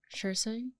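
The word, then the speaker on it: Saoirse: s a o i r s s e shers sha how do you do that because there's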